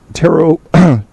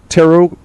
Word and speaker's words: tarot: this person would do tarot tarot is that how you pronounce that tarot I don't think you pronounced the T tarot car read card readings